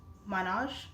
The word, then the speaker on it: Manoj: Mano said, actually, my name is Manoj. Can Can you call me Manoj?